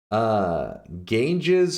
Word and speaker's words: Ganges: Ganges like the river.